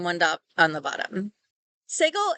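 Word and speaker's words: סֶגוֹל: dot on the bottom segle is pronounced something between the E of bed and the a of B so I want you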